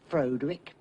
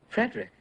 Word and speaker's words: Frederick: No, it's pronounced Frankenstein. Do you also say Froderick? No, Frederick.